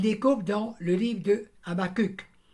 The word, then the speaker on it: Habakkuk: Il découvre dans le livre de Habakkuk, qu'on prononce également Habakkuk, il découvre donc dans